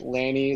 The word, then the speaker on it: Lanie: You Lanie, got it. like Danny, like Annie, like Manny. Yeah, it rhymes with a lot.